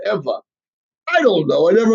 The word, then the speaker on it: Ewa: which is interesting because ever which would be V is actually spelled Ewa but they pronounce it Eva I don't know I